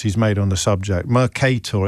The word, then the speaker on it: Mercator: Mercator. Is anyone going to start pro correcting my pronunciation. I thought I got it right last time. Mercator.